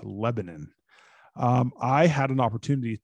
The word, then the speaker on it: Lebanon: out of lebanon indiana it's not lebanon it's lebanon um i had an